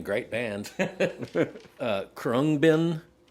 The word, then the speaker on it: Khruangbin: But, it's I mean, it's impossible to pronounce. k h r u a n g b i n Oh, I may have actually seen it